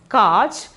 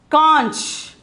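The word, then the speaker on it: कांच: Simply we can pronounce it as kaj, but the pronunciation is conch.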